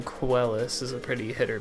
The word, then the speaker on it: Quellus: But the most common mispronunciation is Quellius. And I'm like, there is no I there.